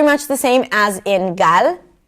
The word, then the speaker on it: Gal: However, in Hebrew, we don't have that. It's a very simple, clear L where you bring the tip of the tongue up and that's about it. 'La', 'La', 'Gal', 'Gal'. So it sounds a little lighter and a little shorter: 'Gal' - 'Gal', 'Gal' 'Gal' .